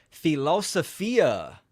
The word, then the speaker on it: philosophia: cards real quick Banner philosophia which is the Greek pronunciation the love of wisdom again I'm live also